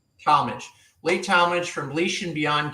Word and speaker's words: Talmage: It's Talmage. Talmage.